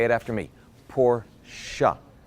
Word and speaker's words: Porsche: now while we're on the subject it's actually pronounced Porsche up say it after me poor shot it's not Porsche there you go this pronunciation lessons been brought